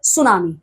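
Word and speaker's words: tsunami: सी the tidal और स्टम waves are also called सुनामी। ठीक है? तो सुनामी में टी जो वर्ड है वो साइलेंट है।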